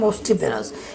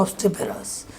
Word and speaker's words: obstreperous: ওকে, সেই দেখি আমাদের এটার উচ্চারণটা কেমন দাঁড়ায়, অবস্ট্রিপেরাস। This exhibition charts the full obstreperous অবস্ট্রিপেরাস, আমি বলেছিলাম অবস্ট্রিপেরাস, কিন্তু এটা হচ্ছে অবস্ট্রিপেরাস।